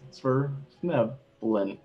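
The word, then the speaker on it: Svirfneblin: Sverfneblin. Yep, that's right. Yikes. I'm gonna have a heck of a time saying that. Thank you. Yeah, 3 syllables. Sverfneblin.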